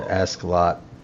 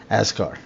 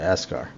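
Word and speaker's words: Askar: We'll head to Ascalot and pick up. Is that how you pronounce it? Is it Ascalot? Ascar. I'm sorry, Ascar. We'll pick up horses from Ascar.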